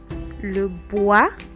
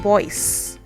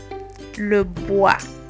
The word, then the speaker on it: bois: Then we have le bois. Bois is wood. So when you see this, next time don't say Roy and Boyce. It's roi, le bois.